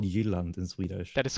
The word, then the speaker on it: Jutland: I know it's called Jutland in Swedish.